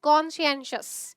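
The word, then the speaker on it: conscientious: तो वर्ड आपका है कॉन्शियंशियस, इसको बोला जाता है कॉन्शियंशियस, ठीक है। अब देखो, साइंस की स्पेलिंग कैसे होती है, आई एम सो सॉरी।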